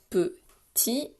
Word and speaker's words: petit: Bien, oui, tu te souviens, le mot petit, 2 syllabes, petit, et le T qui est muet parce qu'on dit une petite fille.